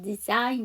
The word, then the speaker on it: design: sign에서 앞에 DE만 붙이게 되면 design 되죠. 거기서도 G가 묵음이에요.